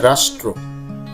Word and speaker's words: রাষ্ট্র: সঠিক উচ্চারণ হচ্ছে রাষ্ট্র।